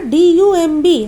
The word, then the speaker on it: dumb: ठीक उसी तरह DUMB, हम लोग डम्ब नहीं बोलेंगे, लेकिन अक्सर लोग डम्ब भी बोलते हैं, which is totally wrong. The actual pronunciation will be DUM, dumb. B is silent over here, so we will pronunciate dumb.